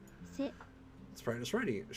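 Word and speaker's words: せ: You pronounce it as Se. Se.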